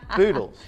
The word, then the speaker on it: Boodles: Boodles. You should have said it starts with a B and it rhymes with noodles.